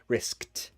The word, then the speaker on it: risked: past tense right so riskt it sounds like a t at the end risk hear that it's